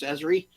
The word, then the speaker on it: ESRI: We actually pronounce ESRI as ESRI.